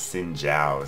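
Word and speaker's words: Xin Zhao: So I totally pulled a Zin there. I think it's actually pronounced Sin Jiao.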